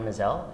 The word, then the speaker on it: Maazel: pronounced mizelle right mizelle rhymes with gazelle yeah you'll never forget it uh we're here today with mazzell and she's going to